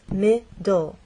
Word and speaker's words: middle: This word has two syllables, middle, and the stress is actually on the first part. It ends in an E, but the final sound is an L sound because the E is silent.